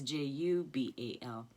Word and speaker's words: Jubal: And yeah, it's spelled the same way. Oh no, it's Jubal.